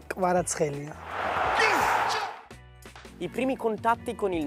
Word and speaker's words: Kvaratskhelia: Questo è il momento perfetto per dire a tutta l'Italia, a tutti i tifosi del Napoli, come si pronuncia il tuo nome. Kvaratskhelia. Kvaratskhelia.